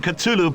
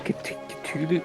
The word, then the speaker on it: Cthulhu: Dietrich and the Rakamus are already celebrating the ceremony that will bring Cthulhu back to Earth. Wait, you're saying Cthulhu?